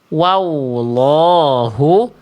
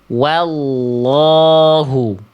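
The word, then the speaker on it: والله: Wa, lalu masuk ke huruf lam tebal. Angkat pangkal lidah. Ya, sehingga bunyinya. Mana tadi ayatnya? Hilang. Mana tadi ayatnya ya? Nah ini nih. Hilang. Nah ini ya. Nah jadi dibacanya begini Bunda. Bukan wallahu tapi wallahu.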